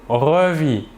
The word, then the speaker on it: revit: Je revis, tu revis, il ou elle ou on revit. Toujours la même chose, le S et le T final de la terminaison ne se prononcent pas mais s'écrivent.